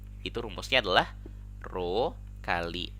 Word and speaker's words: rho: Nah, nilai hambatan kawat itu nanti bisa kita rumuskan sebagai R sama dengan Rho kali L per A. Ini bacanya Rho ya, hambat jenis ini.